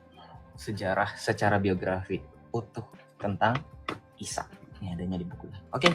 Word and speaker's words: Isa: Isa ini juga Islam di bawah. Jangan Isa. Pronunciation yang benar, Isa kalian itu pakai ain, bukan pakai alif.